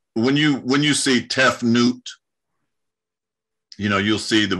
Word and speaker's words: Tefnut: it's uh so when you when you see tef newt you know you'll see the word t e f n ut tef newt well they pronounce it tefnuti you know the the priests are uh the